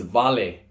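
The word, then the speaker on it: vale: V next letters letter V the word is volley volley v-a-l-e means a house in Fijian you're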